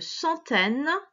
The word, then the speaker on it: centaine: le voir en mathématiques, le CEN se prononce cent. Centaine. Attention, c'est pas AIN qui fait un, c'est E et ne.